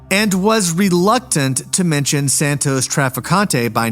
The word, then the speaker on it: Santos Trafficante: First of all, this guy's first name is pronounced with or without the s at the end all over the place.